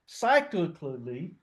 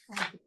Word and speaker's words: psychically: So when you deny yourself, it says projection is an act in which you physically or cyclically that's how you pronounce that? Psychically psychically in your mind.